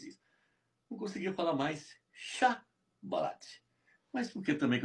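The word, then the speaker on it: שיבולת: Não conseguia falar mais chá balate.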